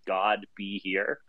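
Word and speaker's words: Godbehere: It's God be here. Whoa. Okay. So it is what it sounds like.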